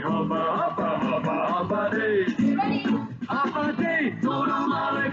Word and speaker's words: Hafa Adai: Just pronounce it as in half a day. Sing it with a beat and say it every day. Like Hafa, Hafa, Hafa, Hafa Day.